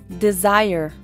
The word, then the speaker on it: desire: is the z er Desire Desire a sílaba tônica é do Meio Desire Desire There is